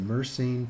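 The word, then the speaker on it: Mersenne: one is a random number generator called the mercene twister that's spelled n m-e-r-s-e-n-n-e so you can look it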